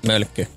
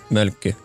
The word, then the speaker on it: Mölkky: Mölkky. Mölkky. Oh, is that how you pronounce it? That's it. Mölkky? Yeah. Mölkky.